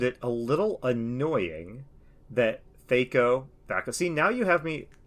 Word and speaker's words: THAC0: a little annoying that THAC0. See, now you have me wanting to say THAC0, and I'm upset because it's the correct pronunciation. It rhymes with wacko, and it's not gonna fly.